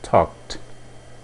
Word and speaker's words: talked: o passado seria I talked mais uma vez o verbo termina em k então a pronúncia é T Então você tem I